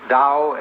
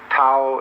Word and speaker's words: Tao: paul the dao tao pronounced dao in the mandarin dialect tao in the shanghai dialect and the cantonese dialect take your choice